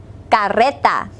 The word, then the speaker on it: carreta: Be sure to roll your R. Listen, la carreta.